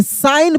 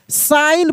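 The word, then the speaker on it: sign: साइन पढ़ते हैं। क्या पढ़ते हैं? साइन पढ़ते हैं। अब यहां पे देखिए जी का उच्चारण जो है नहीं होगा। यानी जी जो है वह साइलेंट है।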